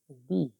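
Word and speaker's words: the: हम उसका उच्चारण करेंगे दी, यानी टी एच डबल ई। ये उच्चारण को भी बता दें, लिखते हैं द लेकिन पढ़ते हैं इसको दी, यानी दी Apple, दी Apple, द कैट, दी Apple, द कैट, द डॉग।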